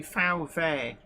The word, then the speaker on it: VW: W is V um Germans pronounce a w like we pronounce v's and Germans pronounce V's like we would pronounce FS it's it's all it's